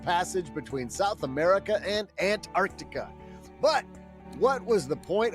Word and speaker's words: Antarctica: Antarctica. That is the correct pronunciation.